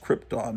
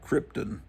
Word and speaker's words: Krypton: Brando, it's pronounced Krypton, not Krypton, but he says, I'm blasting you off from the planet Krypton.